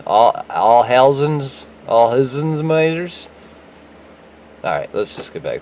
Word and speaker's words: Alzheimer's: Everybody says all-timers, but I don't want to make everybody mad because that's not how you pronounce it. So it's the Alzheimer's, Alzheimer's.